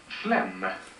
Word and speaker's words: phlegm: i'm gonna be sick phlegm ph is always pronounced as f and uh you don't sound the g so why is he